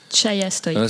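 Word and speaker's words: Ceija Stojka: Son nom n'est pas facile à prononcer. Chaya Stoïka. C'est plutôt Chaya que Chaya.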